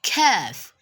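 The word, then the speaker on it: كاف: is not involved so it's just the exact way you pronounce letter k in english just like ketsu king and kong so we have kev kev kev and the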